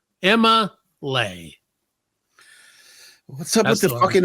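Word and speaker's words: Emma'Leigh: Now you spell it E-M-M-A apostrophe L-E-I-G-H. Emma Lay.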